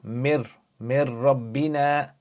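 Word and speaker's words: من ربنا: Mir rabbina. Alright, so over here, you've got ra, so you're going to join it together. Join the meme to the ra, don't pronounce the noon, you say mir rabbina, because you have a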